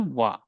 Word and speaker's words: は: Okay, but if it comes at end of the word, you will pronounce it a wa.